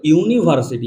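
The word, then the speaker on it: university: দেখো ভালো করে দেখ ইউনিভার্সিটি ইউনিভার্সিটি যখনই আমরা বলতে যাই তখন আমরা কিভাবে উচ্চারণ করি যে ইউনিভার্সিটি ইউনিভার্সিটি ভালোভাবে দেখবে আমরা কিন্তু এইভাবে উচ্চারণটা করি ইউনিভার্সিটি দেখ ইউর উচ্চারণ কিন্তু ইউর মত আসছে না ভালোভাবে দেখবে ইউর উচ্চারণ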